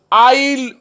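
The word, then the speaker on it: I'll: Okay, third one ইজ আই উইল not. Spoken ইংলিশে আমরা আই উইল নট বলবো না, আমরা কথা বলার সময় আমরা বলবো দুটোর একটা বলবো আইল নট অথবা আই ওন্ট।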